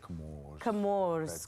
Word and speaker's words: Comores: I say Comores. Comores. Just say it like It's an you're on the island education. and the soft wind is blowing past your I face. feel it already. Comores. It just drifts from the wind.